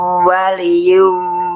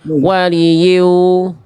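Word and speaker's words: وَلِيٍّ: Wa ma lakum min dunillahi min waliyyin wala nasir. Ya-nya tasdidkan Bunda. Tadi Bunda bacanya gini. Waliyu. Ya-nya tasdidkan.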